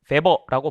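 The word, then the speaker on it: Weber: W인데 베버라고 발음을 한다는 것 자체가 이 사람이 폭스바겐 뭐 이런 식의 발음에 가까운 거죠. 폭스바겐이잖아요. 원래 저 폭스와겐 아니겠습니까? 그래서 독일어에서는 W를 V 발음을 이제 하는데 정확하게 V 발음은 아니지만 하여튼 그렇습니다.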